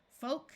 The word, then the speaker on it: folk: the p is silent two words follow this pattern with a long o and a silent L folk and yoke and two